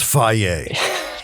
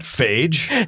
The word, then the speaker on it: Fage: Of course, it's fier. It's not fagee.